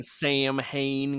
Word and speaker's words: Samhain: Bless y'all for pronouncing Samhain correctly.